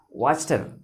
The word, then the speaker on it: Wachter: Again, WACHTER, and its pronunciation is Waster.